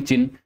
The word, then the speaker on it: Qin: ये चिन डायनेस्टी जो है, जिसकी स्पेलिंग तो QIN है, इसका प्रोनाउंसिएशन चिन होता है और इसी चिन के नाम पे आगे चीन का नाम भी चीन पड़ गया।